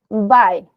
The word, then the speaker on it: buy: un nuevo libro ya este verbo en presente se dice Bye y se escribe Buy y en pasado se